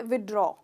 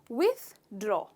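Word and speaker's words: withdraw: तो हम जनरली कहते हैं विड्रॉ, विड्रॉ कहते हैं, पर इसमें हम थ का साउंड लेना भूल जाते हैं। तो इसका करेक्ट प्रोनाउंसिएशन है विथड्रॉ, विथड्रॉ।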